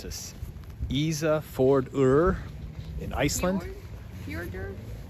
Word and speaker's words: Ísafjörður: We are at, let me try to pronounce this, Ísafjörður in Iceland. Ísafjörður.